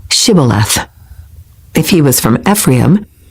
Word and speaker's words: Shibboleth: If the man said, "No, I'm not," they would tell him to say, "Shibboleth." If he was from Ephraim, he would say, "Sibboleth," because people from Ephraim cannot pronounce the word correctly.